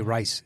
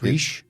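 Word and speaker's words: Rhys: Jungmin Hunsu, Daniel Bruhl, Reese Ifans, Tom Hollander. God damn. You said? I would say Rice. It's Reese.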